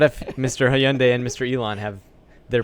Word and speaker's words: Hyundai: from three hours ago I always pronounce their name wrong Hyundai yeah there you go perfect I always France at high on day because it smelled like that they don't want roads